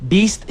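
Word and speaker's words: B2ST: So, she requested Beast Shadow and we'll be right back after the song. Once again, that was Shadow by Beast cuz these kids are beasts.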